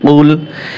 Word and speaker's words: قل: কফ লাম পেশ কুল, এখানে কিন্তু বড় কফ দিয়ে হবে, কাফ বলা যাবে না, ক বড় কফ দিয়ে।